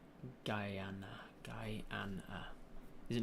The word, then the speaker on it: Guyana: what you're saying Guyana you can swallow the unsounding part if you have a Guyanese accent Guyana Guyana like Guyana Guyana Guyana Guyana Kiana not Gianna Central American on the Caribbean